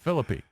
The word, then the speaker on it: Phillippe: Yeah, it's got to be an ego booster for dreamy Ryan Phillippe, or however you pronounce it. He just told you how it's pronounced. Yeah, Ryan Phillippe. Phillippe.